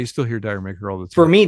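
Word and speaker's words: D'yer Mak'er: say it's Dire Maker, Yeah, and apparently in the UK they don't say Dire Maker, they say it like Jamaica or whatever.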